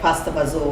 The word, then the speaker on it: pasta fagioli: off his favorite food, pasta fagioli. Is that how you say it? Or as they say, the Italian dialect, pasta fazool, that's how we said it.